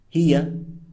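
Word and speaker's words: هي: It's important to note that Arab grammarians consider pronouns, for example, he, pronounced huwa, she, pronounced hiya, they, pronounced hum or hunna.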